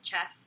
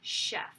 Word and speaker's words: chef: broke it down into, this is a French word that it looks like it says chef, and a lot of the students wanted to pronounce it chef, but it's really chef.